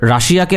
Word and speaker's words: Russia: আচ্ছা, রাশিয়াকে আসলে আপনারা ইন্টারন্যাশনাল নিউজগুলোর আপনারা যারা পড়ে পাঠক সেগুলো পড়লে আপনারা দেখবেন রাশিয়াকে আসলে রাশিয়া বলে না, বলে রাশিয়ান ফেডারেশন। হ্যাঁ, রাশিয়ান ফেডারেশন বলে, উচ্চারণটা হচ্ছে রাশা, ইংলিশ উচ্চারণ।